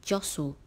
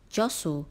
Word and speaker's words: jostle: rushing for the gates don't forget the letter T as it is a silent sound word number 14 is